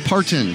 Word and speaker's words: Parton: It's like Martin, but with a P. Parton.